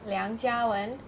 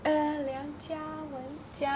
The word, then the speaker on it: 梁家文: 梁家文, Liang Jiawen. No, Liang Jiawen. Jiawen is not anywhere near to in terms friend, of pronunciation.